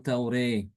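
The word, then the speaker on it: التوراة: Setiap ada kata raa dibaca dengan re dan juga kata attaurah dibaca dengan taureh.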